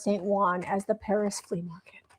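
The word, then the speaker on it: Saint-Ouen: Those are when we say we got like Juan Oh, St. Owen is pronounced St. Juan as the Paris flea market.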